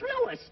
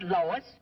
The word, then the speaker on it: Louis: Me name is Louis, not Lois. Gee whiz, everybody interpolates me name wrong.